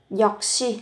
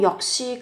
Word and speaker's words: 역시: 역시 các bạn phát âm là gấp đôi phụ âm lên.